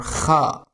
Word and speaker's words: خ: Now, let's learn how to pronounce the letter Kha. This sound is common in European language. It sounds like the Ch in the Scottish word Lach and the German Ch in Bach.